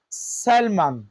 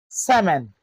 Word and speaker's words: salmon: We don't say salmon. We say salmon. Yolk, fork, foot, shoot, wood. So, in all of these words, the letter L is not pronounced.